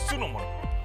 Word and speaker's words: Sunomono: Dan selanjutnya ini ada yang namanya Sunomono. Kok gue tadi hampir bacanya sumo. Nggak, Sunomono.